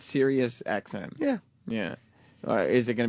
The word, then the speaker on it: Sirius XM: the o yeah chiper radio um here on sirusxm it's Sirius XM yeah yeah is it going to be like